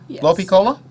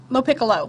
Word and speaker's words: Lopicolo: now let me work on your name Lo Piccola Lo Piccolo Lo piccolo yes okay it's difficult to pronounce for is it Italian or not it